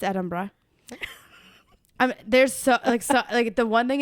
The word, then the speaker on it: Edinburgh: went to Scotland and we did Glasgow and Edinburgh. My favorite, Edinburgh. Yeah. It's the land of the witches. I am obsessed with it. Edinburgh is how I hear it. Edinburgh. Yeah, it's Edinburgh.